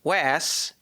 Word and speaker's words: Was: the pop rock band wass in parentheses not was if you look at it it's spelled was not was but actually spoken as wass with the first word rhyming with pass that's why the not